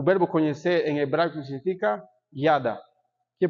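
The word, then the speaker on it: ידע: O verbo conhecer em hebraico significa yada. Quer pronunciar comigo yada?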